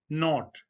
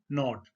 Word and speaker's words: knot: KNOT, नॉट। जब के और एन इकट्ठे आ जाएं तो जो इंग्लिश पीपल हैं वो के को नहीं पढ़ते, यानी के साइलेंट है, खामोश है। तो हम इसको पढ़ेंगे नॉट।